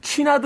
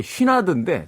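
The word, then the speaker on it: Chouinard: 거기 취나드 A, 취나드 B라는 코스가 있는데 우리가 이제 잘못 알았던 거지. 쉬나드인데 당시만 해도 그 영어 철자를 취나드라고 읽었던 거예요.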